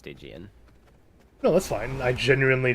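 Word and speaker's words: Stygian: already but L yeah stigan like the river sticks stick sticks that's not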